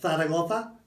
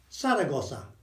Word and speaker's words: Zaragoza: It's either th sound, I would say th for Zaragoza, or it's a s sound, Saragossa. It's fine, doesn't matter. Either of those is absolutely fine. It is never, ever z. Yeah? It's never z.